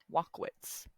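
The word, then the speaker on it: Walkowicz: W's Wanda wwit so I'm going to try to pronounce it walk wits w a l k walk o w I see Z we're gonna yeah we're just going to pronounce it that way not going to butcher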